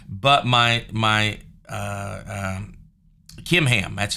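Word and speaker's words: Chimham: He bowed out graciously, but he said, but my Kimham, that's how you say his name there.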